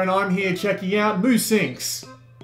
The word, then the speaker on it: Musynx: i'm here checking out boo sinks i think that's how you pronounce that it's spelled NUS Y and X which is a very weird way to spell it especially since the game